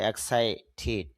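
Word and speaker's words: excited: আমরা হব এক্সাইটেড এক্সাইটেড যদি আমরা বলি তবে শুদ্ধ উচ্চারণটা হবে এক্সাইটেড সাউন্ডের পরে ইডি যুক্ত হলে তখন রসকারের মত সাউন্ড হয় এক্সাইটেড মানে উত্তেজিত উই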